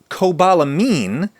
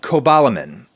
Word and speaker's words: cobalamin: B12 is Cobalamin, not Cobalamin, as it is often mispronounced by myself and others, but Cobalamin, which is the only essential micronutrient based on the toxic heavy metal cobalt.